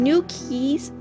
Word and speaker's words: NudeKeys: But NudeKeys, sound like I said new. I meant to say NudeKeys.